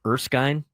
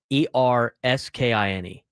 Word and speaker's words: Erskine: Uh, have you ever heard of the college Erskine? I don't even know if I pronounced it right. E R S K I N E.